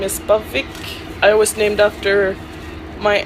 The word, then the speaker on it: Aviaq: Well, it's supposed to be pronounced Aviaq because it's a Greenlandic name that means same blood or runs in the family.